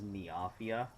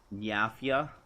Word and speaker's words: Nyafia: Yeah, it looks like a lot of the new stuff is Nafia. Nyafia. Oh, Nyafia. Cuz it's a cat. I'm dumb. Don't mind me. That's how it's pronounced.